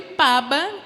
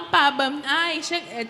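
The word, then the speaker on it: pába: Então, eu escrevi paba. Até o acento no primeiro A eu botei para todos saberem como se pronuncia. E tá lá, paba.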